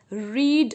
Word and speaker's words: read: रीड इज the verb, but जो second और third form होती है उसकी spelling is same, READ, READ, बट the pronunciation is different. रीड, रेड, रेड.